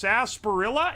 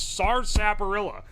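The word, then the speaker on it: sarsaparilla: My brother in engineering, it's pronounced Sasparilla. It is not. It's SARS Sapperilla. Sasparilla and SARS Sapperilla are literally two different plants.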